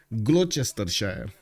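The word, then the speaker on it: Gloucestershire: names here Worchester Shire from England and uh glester Shire gluster it's actually that one I know pronounced I see they decided to add 15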